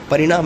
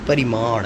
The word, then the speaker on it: परिमाण: ऐसा परिणाम नहीं परिमाण, है ना।